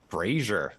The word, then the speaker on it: brazier: Oh my god, apparently it's Brazier, like rhymes with Frasier.